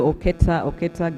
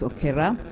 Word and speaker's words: Okera: allow me to call you Okera, so that those who keep calling you Oketa get to know how the name is pronounced. It's Okera.